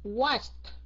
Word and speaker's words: watched: Thì khi mà mình thêm ed thì mình sẽ phát âm nó thành chữ t, okay. Watched.